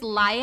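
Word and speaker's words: Laia: spelled like l-a-i-a oh li i think it's lia and elias that's how they pronounce it i'm like why did you pronounce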